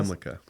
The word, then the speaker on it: Zimlicka: Zimlicka, is that how you say it? Zemlica.